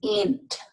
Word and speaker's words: init: The word init is often pronounced int with a long N.